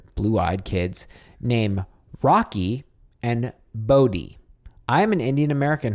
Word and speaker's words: Bodhi: No, like Bodhi. Bodhi, like Cody.